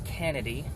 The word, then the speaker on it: Kennedy: his last name was Kennedy, like John Candy with an extra syllable.